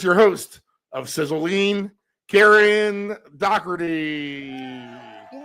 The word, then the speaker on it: Dougherty: Now, I was kind of a crapshoot and I heard myself calling myself Dockerty today. That is the original way to say my name. Um, uh, in Virginia they say Dory, Karen Dory, which is very pretty. That's a pretty way, but Dockerty is kind of my home state.